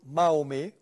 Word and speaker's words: Mahomet: He wrote, by the way, a very famous book about the Prophet Muhammad, and it's called Mahomet. This is the French way of pronouncing the word Muhammad.